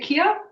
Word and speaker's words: Kia: Am I pronouncing your name right? Is it Kia? Yes, that's perfect.